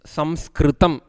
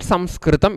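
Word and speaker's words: संस्कृतम्: pronunciation for the correct name and the correct pronunciation of this language is Samskritam. Why we don't use the word letter I? I'll tell you little later, you will understand. So, this is the word Samskritam is the correct word.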